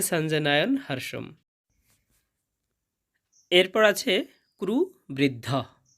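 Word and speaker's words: সঞ্জনয়ন্: এরপর আছে সঞ্জনয়ন। এখানে যুক্ত বর্ণটা হবে ইয় জ এবং ইয় প্রথম থাকার কারণে অর্ধেক নয়ের মতো সাউন্ড আসবে। সন জ নয়ন, সঞ্জ নয়ন।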